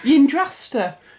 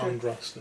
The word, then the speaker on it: Yndrasta: Yndrasta. Not Andrasta. Not Andrasta, no. Yndrasta. Yeah. Right. Yeah. Sure, something impronounceable to anyone. Well, it's like the Yanari, isn't it? Yeah. It's like just stick a Y in front of it and it'll Y sound different.